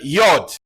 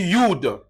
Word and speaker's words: Yod: On va prendre la lettre Yod. Yod. On peut lire aussi Yud. Yod. Yud. Voilà.